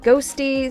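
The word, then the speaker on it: Qhosty: It's spelled Q-Hosty, but apparently it's pronounced Ghosty, so that's what I'll continue to refer to them as.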